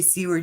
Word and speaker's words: Seward: It's pronounced, like there would be an A in there, but it's not spelt that way.